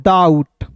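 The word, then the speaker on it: doubt: फिर देखिए दोस्तों यहां पे डी ओ यू बी टी तो इसे पढ़ेंगे दोस्तों डाउट डाउट नहीं पढ़ेंगे बी साइलेंट होता है।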